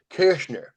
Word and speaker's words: Koechner: It should have been Koechner, or it would have been an umlaut over the O. It should have been Koechner.